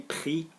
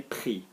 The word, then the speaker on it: pris: Okay, moving on to number 4, then still on verbs, is silent consonants on the ends of verbs. Normally the present, but mainly the past. So, I said, j'ai dit. I took, j'ai pris, what else did I think to say?